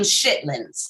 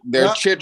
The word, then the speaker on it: chitlins: Some people call them shitlins, and that is not how you pronounce them. They're chitlins.